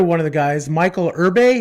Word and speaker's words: Irby: And so another one of the guys, Michael Irbe, is that how you pronounce his last name? Yeah, it's Irby. Irby.